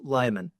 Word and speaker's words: Lyman: Layman. How to pronounce your name correctly? Pronounced Lyman.